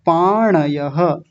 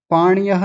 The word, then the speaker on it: पाणयः: शस्त्र ऐसा नहीं शस्त्र पाणयः पाण्यः नहीं पाणयः आगे देखिए धारत राष्ट्र